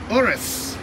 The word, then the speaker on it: Urus: the Lamborghini Huracan and over here the Lamborghini horas yes all of you for to horizon for